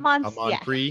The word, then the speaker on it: Amanpreet: Amanpreet. Yeah. So the T silent? The Amanpreet. Oh, T. So you can hear the T. You say the T, yeah.